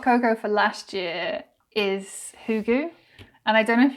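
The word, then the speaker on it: hygge: the our hot coco for last year is hugu and I don't know if you guys have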